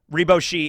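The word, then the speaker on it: リバーシ: Riboshi in like Japanese is the way it's pronounced, Riboshi, so it's like reversey.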